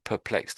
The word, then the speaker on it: perplexed: We just just do perplexed again. So, you sort of said purr and you started the P, but the rest of it sort of died out a little bit with that word there.